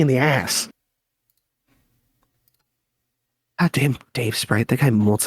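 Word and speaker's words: Davesprite: No, I mean, why do you always say it like that with the space between words? It's not Dave Sprite. It's just Dave Sprite.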